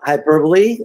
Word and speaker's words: hyperbole: let's get started uh hyperbole that's how you say it not uh how the british say it sometimes and uh you